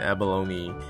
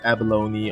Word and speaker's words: abalone: in buying their can abalone at their retail store so pronounces abalone or abalone depending on where you are abalone is a delicacy